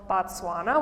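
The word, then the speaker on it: Batswana: So the people of Botswana are called Botswana, which sounds the same, but as you can visually see, it's spelled differently. So there's an A where the O would be for the country name.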